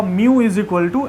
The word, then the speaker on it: μ: कैसे बोलेंगे ठीक है इसको मऊ बोलते हैं मैं यहां पे आपके लिए यहां पे लिख चुका हूं जैसे बिल्ली बोलती है ना वैसे ही हम लोग प्रोनाउंस करेंगे ठीक है बहुत सारे लोगों